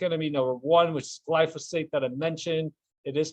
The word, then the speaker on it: glyphosate: harms of public enemy number one which is glyphosate that i mentioned it is pronounced glyphosate and not glycophage or glyphospherus or anything like